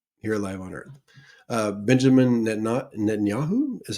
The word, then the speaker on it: Netanyahu: Benjamin Netanyahu is how you say it.